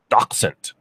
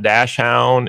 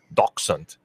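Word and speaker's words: Dachshund: you please say the name of this breed doxent and I went all right there it is it's not dashound it's not what is some other ones there's some other ones out there it's doent Boston Terrier is pronounced Boston terer uh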